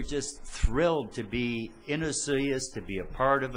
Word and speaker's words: Osoyoos: there doing her talks, she could pronounce Osoyoos. How great was that? I didn't hear one soy in the whole weekend.